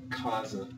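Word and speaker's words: casa: so let's put up Kaza remember it is a z not an S because it is in between two vowels so this just means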